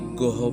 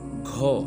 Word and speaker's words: ঘ: আর এটাকে আমরা অনেকেই গহ পড়ি, মূলত গহ হবে না, ঘ।